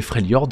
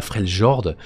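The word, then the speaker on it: Freljord: et c'est pas normal la prononciation normalement c'est frelord c'est pas fr Jord ça fait bizarre pour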